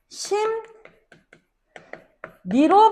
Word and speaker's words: 심리: 마찬가지로 심리 같은 경우에는 앞음절에 종성자리 미음 디에 있는 륨 리을한테 영향을 주게 되어서 궁 니로 심 니로 발음이 되는게 순행동화의 예시입니다.